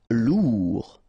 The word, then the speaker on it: lourd: Lourd. Final D not pronounced.